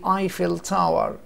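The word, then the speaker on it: Eiffel Tower: النطق السليم ذا ايفل تاور، ذا ايفل تاور. لما بننطق بعض الكلمات بيبقى ليها نطق انجليزي قد يكون غريب عليك شويه، لكن هو ده النطق بالانجلش. وبالعربي بقى ممكن ايه بيبقى يختلف قليلا في النطق الكلمه نفسها. يعني احنا بنقول ذا ايفل تاور بالانجلش، وهنا برج ايفل لما نيجي نقولها بالعربي.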